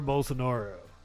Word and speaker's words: Bolsonaro: actually his name's actually both sucks bolsonaro Jr bolsonaro that's the correct pronunciation I've been it up